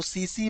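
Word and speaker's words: tsetse: और इस जीव का जो वाहक है वो सीसी मक्खी है। सीसी मक्खी, सीसी की स्पेलिंग देखिए क्या होगी। सीसी, इसको ऐसे लिखते हैं, TSE ऐसे लिखते हैं, सीसी मक्खी फ्लाई।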